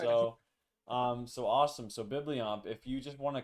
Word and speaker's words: Bibliomp: You were close. It's Bibliomp.